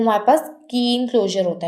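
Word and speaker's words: Kleene: कीन क्लोजर में यहाँ पर हमारे पास एल जो है वो साइलेंट होता है, ठीक है, ये एल हमारे पास साइलेंट है, सो हम इसको प्रोनाउंसिएट कैसे करते हैं, कीन क्लोजर।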